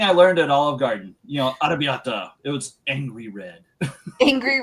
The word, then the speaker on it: arrabbiata: Arrabbiata. It was angry red. Angry red. That's what it means. How do you say it? Arrabbiata. Arrabbiata. It's like arrabbiata. Like the roll the R a little bit.